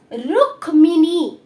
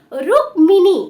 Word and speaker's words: রুক্মিণী: ওকে, দেন হচ্ছে কি দেখো এই বানানটা কিন্তু অনেকেই আমরা জানি না তাই তো, রুক্মিণী, রুক্মিণী, এটার উচ্চারণটা কি হবে রুক্মিণী, ঠিক আছে মনে থাকবে।